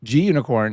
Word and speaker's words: Gunicorn: it's a green unicorn I'm pretty sure G unicorn stands for green unicorn not unicorn but you know you all say it how you wish but G unicorn is how I say